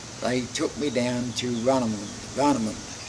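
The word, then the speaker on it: Warnemünde: And amongst other things, they took me down to Varnamund. That's spelled with a W, Varnamund.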